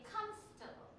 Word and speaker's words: comfortable: the but say comfortable so even though the word is spelled this way you don't say it that way you don't say comfortable you say comfortable Comfort one more time